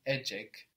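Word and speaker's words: ecek: have a AAC good this is spelled e c e k or a c a k so we see that the C in Turkish makes a j sound J so how do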